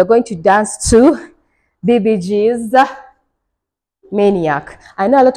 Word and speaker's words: 비비지: But then I remembered in Korean, they don't have a V in their alphabet, and they also don't have a Z or a Z. So V is actually pronounced a B-I, like B, and then Z is like G. So that's how when you hear them talking, they'll be like BBG.